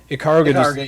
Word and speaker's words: Ikaruga: is it Ikaruga? Is that how you say it? Ikaruga, Yeah.